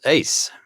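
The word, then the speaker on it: Uys: The captain was 49-year-old Dawood Jacobus Ace, and that last name is spelt U-Y-S, interestingly.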